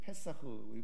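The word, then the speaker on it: פסח: 그래서 2022년도 그래서 여기 6월절 해가지고 패스오버 히브리어 발음으로는 페사흐 배웠죠 그래서 유대력으로 1월 14일인데 이게 유대력 이라는게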